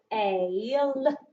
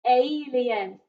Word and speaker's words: alien: And alien is a tricky word because we've got letter A making an A sound, and letter I makes sort of an E sound, doesn't it, if we're reading the word alien? So alien, alien, alien.